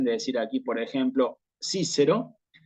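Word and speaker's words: Cicero: Es Cícero y Aciem. Entonces, memorizarse. Cuando veo en latín clásico una C, la tengo que pronunciar como una K.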